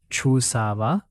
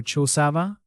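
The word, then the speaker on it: చూసావా: Amenu chusava? Amenu chusava? Perfect. Amenu, her as the object. Chusava, did you see? That little va sound at the end gives the question feel in casual speech.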